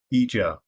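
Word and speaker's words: Ijaw: the third is i j a w i pronounce that as eja the next is u w a z u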